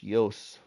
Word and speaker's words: Jos: and modhub the Creator's name is spelled Jos pronounced Yos if I did the